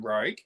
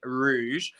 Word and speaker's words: Rogue: he got frustrated that i always kept saying rouge so now i've literally trained myself joe to remember how to pronounce it properly because i would always go with rouge like moulin rouge should now say it's